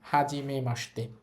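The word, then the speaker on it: はじめまして: Normally হওয়ার কথা ছিল হাজিমে মাসিতে। কিন্তু এটা হবে না। এই শব্দটার উচ্চারণ হবে হাজিমে মাসতে।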